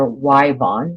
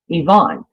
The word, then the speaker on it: Yvonne: That's what his, isn't it weird how some places in the country they pronounce that name either Wyvon, which in Oklahoma, if your name is Yvonne, spelled with a Y, it's pronounced Wyvon. Everywhere I've lived, one of my grandchildren's middle names is Yvonne, and it's spelled with a Y just like that. We say Yvonne.